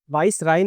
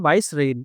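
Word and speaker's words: vicereine: ठीक है बेटा, इसका प्रोनाउंसिएशन क्या होगा? वाइस राइन नहीं होगा, इसका प्रोनाउंसिएशन होगा वाइस रेन।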